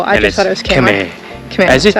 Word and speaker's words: Khmer: Also, I've checked hundreds of times, and Hannah ignores me, that it's pronounced Khmer, like Khmer, instead of Khmer.